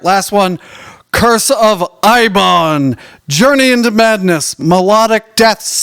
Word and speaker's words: Eibon: Curse of Ibon, Journey into Madness, melodic death / doom / occult metal from Sweden.